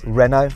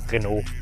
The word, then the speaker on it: Renault: How do you say Renault? Basically exactly the same. Renault.